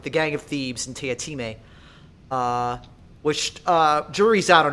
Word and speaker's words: Teatime: The joke for those of you at home is that it's spelled tea time, but he's very clear that it's not pronounced like that. It's a running joke in the text itself that every time someone comes across his name, they pronounce it tea time because, they're saying it in text, and he will immediately correct them.